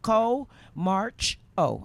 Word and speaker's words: Comarcho: Co March Oh, and that's how it's pronounced as well.